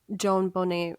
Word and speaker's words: JonBenét: JonBenét Ramsey.